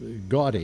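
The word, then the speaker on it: Gaudí: Is gaudy actually is how the name is pronounced.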